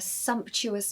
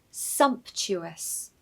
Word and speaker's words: sumptuous: For example, they were treated to a sumptuous meal. Pronunciation tip. Stress the first syllable, so sumptuous, sumptuous, and the T in the middle is really not a T, it's a CH sound, so ch.